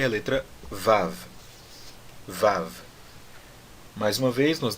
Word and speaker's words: Vav: Então, da mesma forma aqui, nós vamos pronunciar o Vav como Vav e não Vavi.